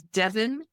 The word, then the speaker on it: Devyn: So that coupon code is Devon Coupon 19. Devon's name is spelled DEVYN Coupon 19, all one word.